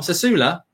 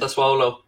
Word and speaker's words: Sassuolo: Sasula? It's not how you pronounce it. Sassuolo.